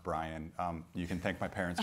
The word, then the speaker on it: Bryon: and just for clarification my name is pronounced Brian you can thank my parents for that if I say anything stupid you can attribute it to Byron and I've never seen